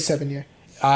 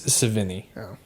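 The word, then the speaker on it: Sevigny: played by chloe savini that's how you pronounce her name i literally said seven year old i thought it was that too but it's savini uh yeah i was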